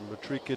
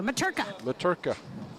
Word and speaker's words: Matrika: Cooper Delmonico up 5 love first set over Matrika Tunaru. Would that be Maturka, Mark? Maturka. I got a lesson in how to say the name recently, so I'm sharing that with you. Maturka. Maturka Tunaru.